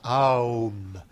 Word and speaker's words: Om: on l'appelle le Om, qui s'écrit de 2 manières, ou bien de cette manière-là, Om, et qui se prononce Aum, en 3 sons.